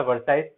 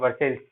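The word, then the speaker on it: Versailles: उस पैलेस का नाम था वर्साइल्स, वर्साइल कह लें या वर्साइल्स इसको हम लोग कह सकते हैं, वर्सेल्स। ठीक है, इस तरह का प्रोनाउंसिएशन इसका होता है।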